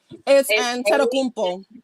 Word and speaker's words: Antetokounmpo: It's Antetokounmpo. Antetokounmpo. Isn't it ANTEKUMPO?